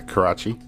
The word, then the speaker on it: Karachi: um so yeah this episode she goes to Karachi am I pronouncing that correctly yeah Karachi Karachi to visit her grandmother and I got